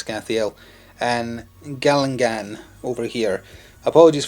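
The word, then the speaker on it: Skhathael: And then we have Scathiel, I think I was mispronouncing his name last time, I'm pretty sure it's Scathiel, and Galangan over here.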